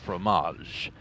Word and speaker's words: fromage: And this time, he may be going for a slightly different brand of formage. Yes. That is how you say it, yes? Fromage. With a terrible accent, of course.